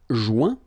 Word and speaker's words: joint: Joindre, joint. Rejoindre, rejoint. Okay, same thing. Final T not pronounced. Joint. So when you get this O-I-N combination of letters, you get the sound ouin.